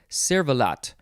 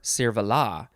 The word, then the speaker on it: cervelat: Next we have cervelat or cervelat. So you don't have to pronounce the T at the end because it is French.